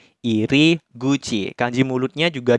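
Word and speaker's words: 入口: ini kebalik aja nah kanji ini itu dibacanya iri guci kanji mulutnya juga dibacanya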